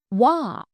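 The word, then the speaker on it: は: হাজিমারি মাসো Japanese পার্টিকেলের ওয়া এর ব্যবহার। হিরাগানা হা বর্ণটির উচ্চারণ হা, কিন্তু আমরা যখন এই বর্ণটি পার্টিকেল হিসেবে ব্যবহার করব তখন এর উচ্চারণ হবে ওয়া।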